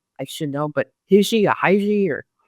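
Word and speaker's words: hygge: I pronounce this correctly I should know but hiji AI or h y g g this is is part of the last chapter and it's pronounced Huga asan Scandinavian Yuga and it's very popular I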